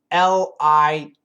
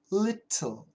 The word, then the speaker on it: little: Little is perfect pronunciation. And the British people love to keep that T sound. Little, little. So the British people say little. Okay? And Americans use a flap T.